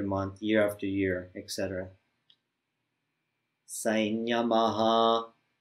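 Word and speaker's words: saṃyamaḥ: Sainyamaha. We say this M, the anuswara, the M dot, we say it like a N with a tilde. Sainyama, because of the palatal semi-vowel that follows it.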